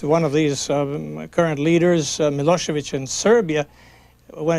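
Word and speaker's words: Milošević: of these current leaders milosevic in serbia when it's written when you see it on the newspapers it's it ends with a c but actually it is pronounced as if it were ch do you find people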